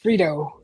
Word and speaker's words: Freedo: His buddy from Calyx, Frito. God, sounds like Frito-Lay's, Frito boat, but it's spelled F-R-E-E-D-O, Frito.